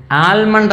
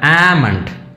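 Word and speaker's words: almond: ആൽമണ്ട് എന്നാണ് നമ്മൾ ഉച്ചരിക്കുന്നത്, എല്ലുണ്ട്, എ എൽ എം ഒ എൻ ഡി. പക്ഷേ നമ്മൾ കറക്റ്റായിട്ട് ഉച്ചരിക്കുമ്പോൾ എന്താണ്, ആൽമണ്ട് അല്ല, ഈ എല്ല് സൈലൻ്റാണ്, ആമണ്ട്. ഞാനൊന്നുകൂടെ പറയാം, ആമണ്ട്, ആമണ്ട്, ആൽമണ്ട് അല്ല, ആമണ്ട്, ബദാമിന് പറയുന്നതാണ്.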